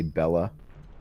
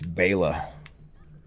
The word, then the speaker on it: Bela: I said Bela Lugosi. I'm not one of those fucking tools that say Bella. Is that how you pronounce it, or no? It's Bela.